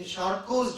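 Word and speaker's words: Charcot: the surah literature wise in charco joint the t is silent it's a French name shoo joint it is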